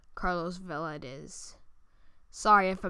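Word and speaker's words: Carlos Valdes: from the flash um pretty sure it's pronounced carlos vela it is sorry if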